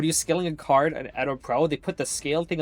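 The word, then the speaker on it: EDOPro: Edo Pro is actually how you pronounce it, apparently.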